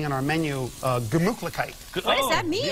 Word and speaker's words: Gemütlichkeit: Gemütlichkeit. Gemütlichkeit.